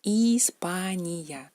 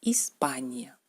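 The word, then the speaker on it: Испания: España en ruso es Hispania, Hispania, Hispania. ¿Cómo se pronuncia esta letra en ruso?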